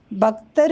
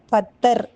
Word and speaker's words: பத்தர்: பக்தர் என்ற சொல் உச்சரிப்பிலே வடமொழி கலந்துவிடுகின்றது என்பதனால பத்தர் என்று தகரம் சொல்லப்படுகின்றது அந்த வார்த்தை சொல் அதனுடைய